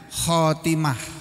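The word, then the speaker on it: خاتمة: Ktim tulisan tulisannya khatimatun membacanya khatimah.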